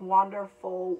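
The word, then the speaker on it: Wanderful: it's wander like w-a-n-d-e-r dash f-u-l so it's wonderful world so anyway this is really gorgeous so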